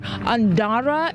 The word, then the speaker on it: Andara: Just behind the lead pack of runners, we saw runner Andara is how we're told his name is pronounced.